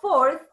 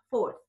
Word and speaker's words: fourth: Pero a partir del cuatro sería fourth, th, y suena como una z, fourth.